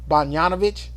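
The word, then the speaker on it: Bogdanović: Bogdanovich. Oh yes, That's how you say that. Bogdanovich.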